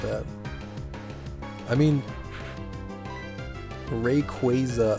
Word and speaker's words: Rayquaza: I mean, Rayquaza, I believe, is how you're supposed to say it, but it just doesn't sound right.